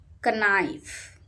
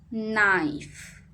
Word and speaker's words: knife: Knife. Knife. K is silent. Say knife.